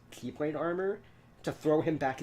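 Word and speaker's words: χ-blade: X/blade. Pronounced Keyblade.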